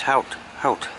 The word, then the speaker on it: Howth: Howth. I was just told the pronunciation.